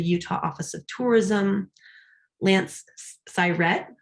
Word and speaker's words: Syrett: Lance Syrett, I learned it rhymes with pirate, Syrett, Lance Syrett, a